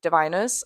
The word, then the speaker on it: Diviners: I know that now, it is diviners.